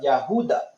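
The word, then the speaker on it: Yehudah: like the descendants of the Yahuda, or Judah, which is the true pronunciation of Judah.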